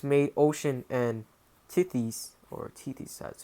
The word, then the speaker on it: Tethys: For these poets made ocean and Tethys, or Tethys, that's how you pronounce it, the parents of creation, and said